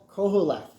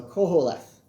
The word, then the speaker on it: Qoheleth: It actually starts with a Q. So Qoheleth. So Koheleth. At least that's what I'm guessing as the way it's pronounced.